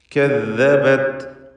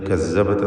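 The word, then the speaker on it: كَذَّبَتْ: കദ്ദബത് ഇതിൽ തഫ്ഖീമിൻ്റെ അക്ഷരങ്ങളിലെ തർക്കീഖാണ്. കദ്ദബത് ദാല് വ്യക്തമാക്കി ഉച്ചരിക്കണം. അത് കസ്സബത്ത് എന്ന സാ പോലെ ആയി പോരുത്.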